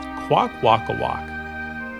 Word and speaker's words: Kwakwaka'wakw: Now that name is spelled Kwakwaka'wakw, and it's pronounced Kwakwaka'wakw.